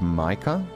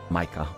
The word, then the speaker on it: Micah: far as I know that's the German origin name so it should just be Micah rather than wait was I saying Mika crap I was saying